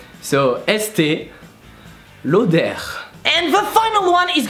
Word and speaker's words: Estée Lauder: So yeah, you pronounce the R in the end. So Estée Lauder.